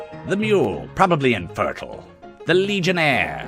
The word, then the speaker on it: Legionnaire: The Legionnaire, some people pronounce it Legionare, and I don't like that.